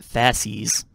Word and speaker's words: fasces: let's talk about the fashion okay it's pronounced pronounced faces a plurale tantum from the latin words fascist